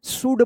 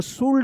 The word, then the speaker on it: should: शुड पढ़ेंगे, शुड, इसको शुल्ड मत पढ़िएगा, ठीक है ना?